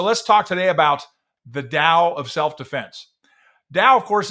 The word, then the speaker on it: Dao: pronunciation likely sucks uh my cross between D and T tends to sound more like a d so deal uh so let's talk today about the Dao of self-defense Dow of